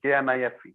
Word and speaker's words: knife: put isn't it knife K silent knife no K is silent k n o w